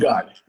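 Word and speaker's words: jugaad: Is it Jugad? How do I pronounce it? Jugad, yeah.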